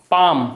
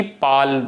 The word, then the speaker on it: palm: अच्छा काम तो जानते ही सब लोग, इसे काम पढ़ते हैं, एल साइलेंट रहता, एल को नहीं बोला जाता। ऐसे बहुत सारे वर्ड हैं जैसे कि PALM, क्या पढ़ोगे, पाम, ना कि पाल, जो भी पढ़ो आप, ठीक है।